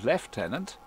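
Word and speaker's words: lieutenant: everybody hooray an orange leftenant please notice I said leftenant which is the correct correct pronunciation just saying is all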